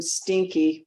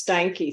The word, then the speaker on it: Steinke: No, my husband used to beat people up if they called him Stinky. So it's Steinke.